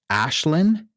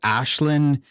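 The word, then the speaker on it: Aisling: I think I heard him pronounce it Ashlyn. I think that's right. I think it's Ashlyn Franciosi as Ella, and she was in The Nightingale and Last Voyage of the Demeter.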